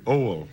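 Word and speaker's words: Oail: If you can pronounce it, you have it. Oil? Oil. Like I had a W in it.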